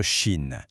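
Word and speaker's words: שין: Autour de la lettre Chine dans le mot mochel. Là aussi, attention à la prononciation, c'est comme mot sel.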